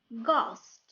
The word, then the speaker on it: ghost: of the word h is silence h is silent ghost rule number three words started with w h